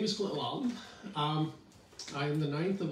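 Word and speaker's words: Lahlum: The original spelling back in Norway was L-A-H-L-U-M. Oh. And so you would say, pronounce it Lalum.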